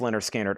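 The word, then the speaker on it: Lynyrd Skynyrd: Leonard Skannard, pronounced Leonard Skinnard on the first label, a 1973 OG original Sounds of the South label.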